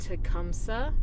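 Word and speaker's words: Tecumseh: up to now is tumsa and 12 and yes that is how you say it there is also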